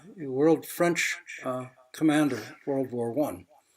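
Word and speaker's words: Foch: it's a quote from marshal Ferdinand over it's pronounced world French commander World War one my Center is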